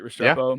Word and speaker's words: Restrepo: And then the last player I have on this list is Xavier Restrepo. Is that how you say his name, right? Restrepo.